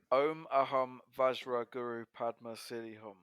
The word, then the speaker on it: Om Ah Hum Vajra Guru Padma Siddhi Hum: the band ohm and the album is called om aham vajra guru padma silly hom before he said iron bonehead 2016 bit the